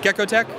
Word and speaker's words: GeckoTek: All right, hey guys, here I'm at the GeckoTek booth, and I'm here with Brad Ruff. Brad Ruff. All right, so tell me, so GeckoTek is, I'm saying it right, Greg, GeckoTek?